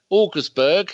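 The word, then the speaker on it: Wolfsburg: can you're quite disappointed they got that right Walker's burg it's how you say it Steve yes missed out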